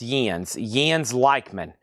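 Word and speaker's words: Jens Lekman: Michael Rudolph was second, and Les Sav is at 90, and it's pronounced Jens Leichman.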